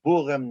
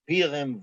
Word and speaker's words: Purim: the three genders, plus a Litvish-based pronunciation, where it's Zogen, not Zugen, Purim, not Pirim, Wein, not Van.